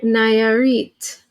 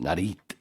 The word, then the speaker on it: Nayarit: Nayarit. Nayarit? I assumed it's pronounced Narit.